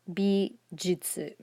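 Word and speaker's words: びじゅつ: Bijitsu is bi, ji, chisai yu, and tsu, and pronounced bijutsu.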